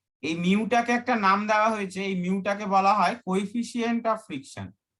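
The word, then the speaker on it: mu: হ্যাঁ, এর উচ্চারণটা হচ্ছে মিউ, এম ই ইউ, মিউ, ঠিক আছে?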